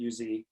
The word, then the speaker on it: Uz: a man in the land of us that's how you say it uz whose name was Joe